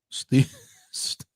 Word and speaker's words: stewage: Let's get the comments before we get to the stewage. Stewage. Rhymes with it rhymes with sewage.